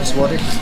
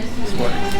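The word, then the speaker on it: złoty: 25 Swati. Zawadi? Swati.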